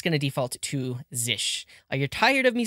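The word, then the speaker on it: zsh: And one thing I'm going to do is say configure zish as the default shell because I didn't show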